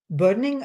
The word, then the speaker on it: Boenning: my today's interview guest is Boenning. I'm not sure if I pronounce your name right. I, It's like the actress Annette Bening, the O is silent.